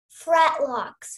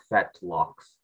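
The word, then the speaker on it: fetlocks: and great pastern bone bearing atop up hair fret locks am I pronouncing that right uh no it is fat locks fret locks no effect locks fat locks that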